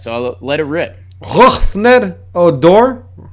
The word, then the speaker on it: Rougned Odor: Rougned Odor. Yeah. And that's a perfect pronunciation, so you can go tell our friends. Rougned Odor. Roughned. It's not Roganid.